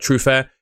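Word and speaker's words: Truffert: Like I said, Truf Fair, who I'd actually put above both of these. I think that's how you pronounce it. Truffer, it's spelled, but he's French. So, I'm giving it a French pronunciation.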